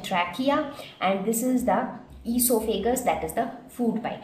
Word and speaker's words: esophagus: So esophagus it is spelled in two different ways. You can spell it with O-E-S-O or you can spell it as E-S-O. It is pronounced as esophagus.